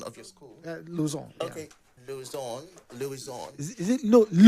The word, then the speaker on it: Luisant: Luisant. Okay, yeah. Luisant. Is it Luisant, right? Luisant. Aha. Because the French pronunciation says Luisant.